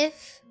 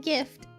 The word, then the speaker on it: GIF: The most accepted way to pronounce it is like gift.